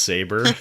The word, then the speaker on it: Sabre: it sa and they didn't realize it was pronounced saber yeah the woman the Weird Science woman like